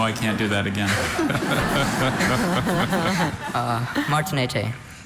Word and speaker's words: Martinete: Martinete. The middle syllable, there is a schwa there, so you have to know this specific bird. Martinete.